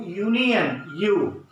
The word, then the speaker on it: union: about the only letters, we should think about the sound, how we will produce the sound. See here, this is U, union, U. It means that union, it is the consonant sound. So we have to use here a union because it is a consonant sound.